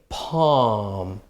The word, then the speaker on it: palm: And then these words here, okay, you have a L, okay, palm or calm. So be careful because the L is not pronounced, all right?